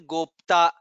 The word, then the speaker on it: गोप्ता: Let us to note in this shloka, Uttaro Gopatir Gopta, Pakara and ta, half pa and ta, both the letters are there. We have to pronounce both. Gopatir Gopta.